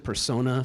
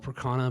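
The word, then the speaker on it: Percona: So we're using I pronounced it Persona, some people call it Procana, but the Procana database with Kubernetes and an object store for all that backups and snapshotting.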